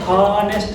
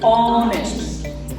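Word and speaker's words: honest: आगे है ऑनेस्ट, इसका उच्चारण हॉनेस्ट नहीं करेंगे, क्या करेंगे, ऑनेस्ट, ऑनेस्ट। एच कोई रोल नहीं रहेगा यहाँ पे, है ना, म्यूट रहेगा वो, या क्या रहेगा, साइलेंट रहेगा।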